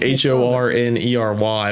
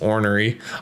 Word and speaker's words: ornery: It's spelled like H-O-R-N-E-R-Y, but it's pronounced ornery.